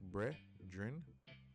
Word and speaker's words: Bredrin: So remember, Bredrin, says pronounce it Bredrin, means brother or close friend.